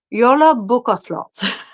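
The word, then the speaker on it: Jólabókaflóð: It's pronounced Yola Bukaflot.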